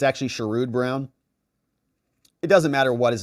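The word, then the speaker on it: Sherrod Brown: works it's pretty incredible indoctrination says it's pronounced shude brown or like in Ohio we like to refer to him as the former Ohio senior senator amazing so I I was saying what sherro it's actually shud Brown it doesn't matter what his name is because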